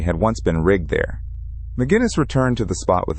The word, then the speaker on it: McGinnis: A teenager named Daniel McGinnis, pronounced Moo-Guinness, was walking through the southeastern woods of the island.